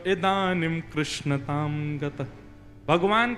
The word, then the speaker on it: कृष्ण: लाल की जय बंधुओ कई लोग इस नाम को अशुद्ध बोलते हैं कई लोग कृष्ण बोलते हैं कई लोग कृष्ण बोलते हैं कोई कृष्णा बोलता है भगवान का नाम शुद्ध उच्चारण करो नाम क्या है कृष्ण भगवान जय श्री कृष्ण कृष्ण